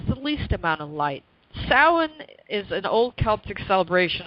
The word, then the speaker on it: Samhain: But it's really based on an old pagan holiday, particularly a Celtic one, called Samhain. Now, some people pronounce it Samhain. I've seen Samhain. It's Samhain.